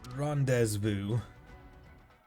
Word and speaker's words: rendezvous: Rendezvous. I am French. Who pronounces Z's in French? No one.